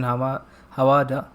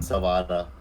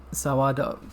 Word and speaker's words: Sawada: The character, I mean Captain Hawada. That's how we pronounce his name. Sawada. Sawada. Okay. Oh yeah, I said an H instead of an S.